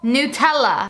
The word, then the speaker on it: Nutella: Nutella jar so you know easy breezy squirtable Nutella you know cuz that's how you really say